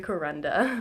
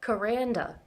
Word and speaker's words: Kuranda: wanted to move to kuranda actually I've been saying it wrong this whole time it's kuranda so this bird sanctuary